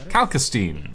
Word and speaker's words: Calcine: I can get out stomping into my home like that, but alastine or calcine. The the multiple characters have pronounced it multiple different ways.